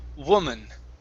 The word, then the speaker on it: woman: here you were saying instead of woo woman woman okay that's it all right